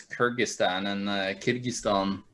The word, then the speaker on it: Kyrgyzstan: critic Stan how do you how do you pronounce notes it's in English it's Kyrgyzstan and a kid keys thumb I believe it's